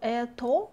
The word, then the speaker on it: это: It will be a story, so это, we spell это, but stress follows on э, that's why we pronounce это.